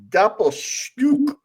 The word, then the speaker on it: Doppelstück: So it's spelled Doppelstu with an umlaut CK. Doppelstück.